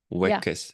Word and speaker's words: weakest: Yeah, I mean, it's weak, W-E-A-K, meaning not strong, but pronounced exactly the same way as week, W-E-E-K.